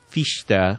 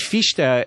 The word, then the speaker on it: Fichte: the people who came along after him namely fiche de which is the correct pronunciation I learned from you didn't know that